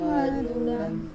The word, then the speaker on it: मधुरौ: हाँ मधुरौ, ये से प्रोनाउंस कर रहा है, बोलो पादौ मधुरौ।